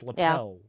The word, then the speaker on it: lapel: You pronounce it lapel. It's lapel. Lapel.